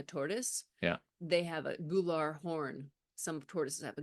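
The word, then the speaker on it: gular: and then they scoop it up and that gou pouch G pouch spell that word for us g u l a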